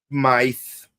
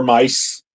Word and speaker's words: Myth: Yeah, I mean, even though there's a TH there, but then again, the Japanese will pronounce it mice because of the way TH would yes, because they don't have a TH in their language.